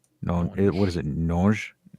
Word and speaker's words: Nonge: Nonge? Nonge, or yeah, because it's not with a hard G. It's just a nonge. It's more French.